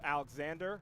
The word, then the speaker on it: Alexandre: It's pronounced Alexander. All right, my apologies. It says Alexandre on the roster I have, so I'm just gonna go with Alexander.